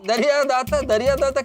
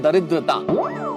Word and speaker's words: दरिद्रता: वो दरिया दाता क्या बोला? अरे नहीं नहीं, ये दरिया दाता नहीं, इस शब्द का उच्चारण है दरिद्रता.